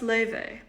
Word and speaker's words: Laufey: My name is pronounced Laufey.